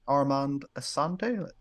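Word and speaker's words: Armand Assante: And his name's Armand Asante, is how he's pronounced, I think.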